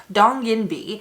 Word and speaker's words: Donginbi: video we are reviewing the korean skincare brand dong yin b and yes i am pronouncing that correctly because i reached out to